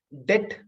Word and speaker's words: debt: டெட் இல்ல டவுட் அப்படிங்கிறதுல be silent, DEBT, DOWBT, பிங்கிறது சைலண்ட் லெட்டர். ஏன் அப்படின்னு சொன்னா, இங்கிலீஷ்ல ஓல்ட் இங்கிலீஷ்ல மிடில் இங்கிலீஷ்ல சைலண்ட் லெட்டர்ஸ் ஒண்ணு கிடையாது.